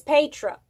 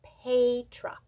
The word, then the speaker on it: Petra: sue no that's not right my name is petra and please pronounce it correctly i get a little irked i'm not petra i'm not petra i am pedra and sandy sandy canada a crochet canada she